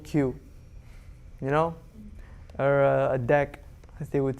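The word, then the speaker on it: deque: object that you imported from deck or dq i'm just saying that because that's how patrick pronounced it remember patrick he was in like france or something oh yeah he pronounced it as dec so uh okay so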